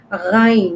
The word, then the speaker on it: غ: Ghain. This is pronounced from the top part of the throat, like kha. That's like this kha.